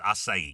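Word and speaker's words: açaí: Acai. I just got some acai the other day for my kids. Strawberry acai at Starbucks. Yes. Asai. A c ai. You know it's asai, right?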